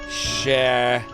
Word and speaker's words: Scheherazade: Scheherazade?